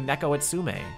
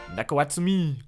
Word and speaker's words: Neko Atsume: you could get a Samsung Galaxy and play Neko Atsume? How's the pronunciation? Neko Atsume? Neko Atsumi.